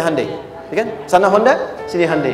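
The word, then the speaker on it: Hyundai: sehingga ketika di sana bikin Honda sini Hai hundai Kan dibacanya Handai kan sana Honda sini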